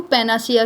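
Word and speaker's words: panacea: तो उसे क्या बोलते हैं, उसे बोलते हैं पैनासिया। क्या बोलते हैं, उसे बोलते हैं पैनासिया। देखो पैनासिया की ऐसे हम बोलते हैं पैनेसिया, लेकिन इसकी स्पेलिंग भी इम्पोर्टेंट है।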